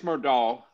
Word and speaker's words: Murdaugh: Where you look at Alex Murdaugh, am I pronouncing it wrong? Is it Murdaugh? It's Murdaugh.